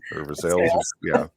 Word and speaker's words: Versailles: is called Sira yes so like Versailles is veres Andes Indiana M yes spelled like Milan mil yes yes Southern Indiana I